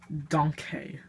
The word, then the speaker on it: DONKAY: This is how you actually pronounce it. DONKAY.